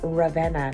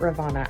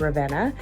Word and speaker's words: Ravenna: Okay guys, so that is Ravenna, not Ravenna. I had it pronounced wrong. It's Ravenna.